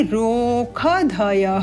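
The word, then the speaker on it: ओषधयः: पृथिवी शांति राप शांति रोख धय यहां पर श का उच्चारण ख के रूप में होगा माधिनी शाखा के नियमों के अनुसार शांति रोख धय शांति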